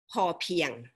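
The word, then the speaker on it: พอเพียง: economy philosophy okay and the term sufficiency in thai uh we pronounce poor piang okay foreign for thai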